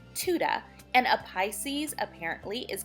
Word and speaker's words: Tudor: from Oklahoma down here everybody says Tudor we're kind of country but yes it's is Tuda and a Pisces apparently